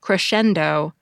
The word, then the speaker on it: crescendo: to spell crescendo since the middle syllable of the word isn't spelled like it's pronounced it's pronounced like Schenn crescendo but it's spelled scen